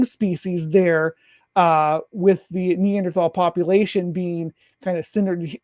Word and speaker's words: Neanderthal: ancestry had neanderthal uh or neanderthal uh i was pronounced the th and i hate it neanderthal is the right way to say that have neanderthal dna whereas